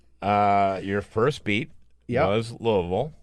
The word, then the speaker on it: Louisville: it is it is Louisville and uh the way you say it if you're from Louisville is to collapse it all into one melted syllable Lille so Lille and uh